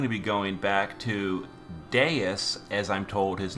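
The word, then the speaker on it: Deus: we're now going to be going back to deis as I'm told his name is pronounced with a water party so this one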